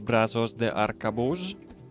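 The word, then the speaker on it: Brazos de Arcabuz: is a named item from the brand set Brazos de arcabus that's exactly how it's pronounced and the thing is that it has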